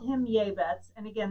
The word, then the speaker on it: Jabez: His mother called him Jabez, and again, this is the Hebrew pronunciation of Jabez, which we're more familiar with.